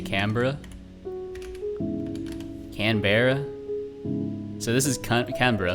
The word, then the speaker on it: Canberra: looks like it's pronounced Canberra.